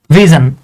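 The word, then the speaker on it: vision: এভাবে লিখি ভি আই এস ও এন এটার উচ্চারণ হচ্ছে জান ভিজন এখন আমি বলতে পারেন ভাই এটা ভিজন কিন্তু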